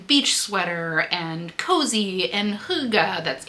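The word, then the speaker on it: hygge: and beachy and beach sweater and cozy and huga. That's h y g e if you're unfamiliar with how that word is pronounced.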